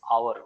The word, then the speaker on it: hour: पे A होना चाहिए, बट व्हेन यू प्रोनाउंस और, इट्स आवर, 1 hour, 2 hour, so word is a, that's why वी पुट एन।